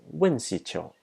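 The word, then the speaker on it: UNCITRAL: Its acronym can be pronounced as WINCITRO.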